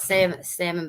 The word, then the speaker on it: salmon: Spelt salmon, but the L is silent.